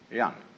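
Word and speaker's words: jen: of a human being is called young spelled j-e-n for reasons best known to chinese scholars uh i don't know what they are but it's pronounced and it's a character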